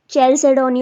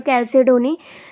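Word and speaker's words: chalcedony: Okay, तो आप इसको सी से भी मतलब चैल्सेडोनी और कैल्सेडोनी, ठीक है, तो अलग अलग इसकी प्रोनाउंसिएशन है।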